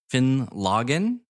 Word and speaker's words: Finlaggan: so we are drinking finn logan is how it's said i got this at